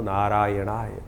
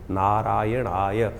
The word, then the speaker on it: नारायणाय: कई बार लोग मंत्र का जप करते करते थोड़ी सी गलती कर देते हैं। नारय नारायणा नारायण नारायणाय नारायण नय नहीं है। नारायणाय ओम नमो नारायणाय इस मंत्र का इसका स्तवन करें।